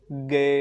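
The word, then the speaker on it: Gueye: और दूसरा कल जिसको येलो कार्ड मिल गया, ठीक है, गए या गए, तो गए गए या गए तुम्हें कौन सा पसंद है? ये उसका प्रोनाउंस ऐसे ही करते हैं गए करके, तुम्हें कौन सा हैं पसंद है?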